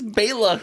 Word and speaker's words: Bela: I said earlier and they didn't even pronounce it right it's Baila yeah well no some of them call him Bella and some call him